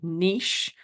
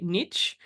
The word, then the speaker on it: niche: Iz coach like my Niche so to speak it's funny I know some people say Niche and I was reading something the day and the person was like it's niche it rhymes with kich that just cracked me